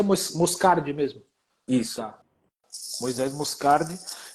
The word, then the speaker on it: Moscardi: Pronuncia Moscardi mesmo.